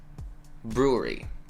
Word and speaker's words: brewery: And the first one is brewery. It's a very uncomfortable word. Brewery. Yeah, you just kind of round your lips and stay there.